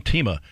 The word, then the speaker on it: Themea: all right uh sean tima and it's spelled t-h-e-m-e-a but pronounced teema of course he could